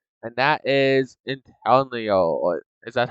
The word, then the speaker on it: Inteleon: Now, next one here is my favorite newest starter that they added with Gen 8, and that is Inteleon. Is that how you say his name? Inteleon?